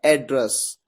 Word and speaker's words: address: इस वर्ड को दो अलग अलग तरीके से प्रोनाउंस किया जाता है। पहला तरीका होता है एड्रेस। एड्रेस कब इसे प्रोनाउंस किया जाता है? जब इसका यूज एक नाउन की तरह होता है। इसका मतलब होता है पता।